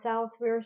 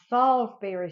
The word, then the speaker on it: Salisbury steak: you know how my Salisbury steak tastes. Okay, y'all. That's my Salisbury steak. I looked up how to pronounce it, and it's not Salisbury. It's Salisbury. Salisbury steak.